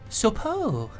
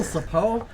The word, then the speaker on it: Sopo: My name is Sopo. A what? How, Sapo? I'm Duckblit. I suppose you no. could get a better name. No, you said it wrong. It's Sopo.